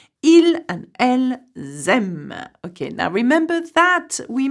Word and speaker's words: aiment: It is not an adverb, so we do not pronounce the en at the end.